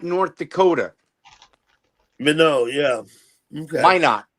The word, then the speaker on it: Minot: Minot, not Minot. It's pronounced So- Minot.